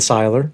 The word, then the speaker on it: Cihlar: ladies and gentlemen the one and only rich seiler makes i pronounce that correctly you are 100 did andrew